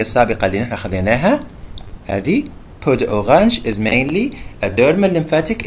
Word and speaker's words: peau d'orange: فجلد البرتقالة peau d'orange, لذلك تنطق peau d'orange مش peau d'orange, peau بعدين d'orange, هذا النطق الأصلي لها peau d'orange.